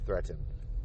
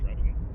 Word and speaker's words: Threatin: No, it's threat. Like threat. Oh, okay. Threatin.